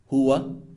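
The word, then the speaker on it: هو: It's important to note that Arab grammarians consider pronouns, for example, he, pronounced huwa, she, pronounced hiya, they, pronounced hum or hunna.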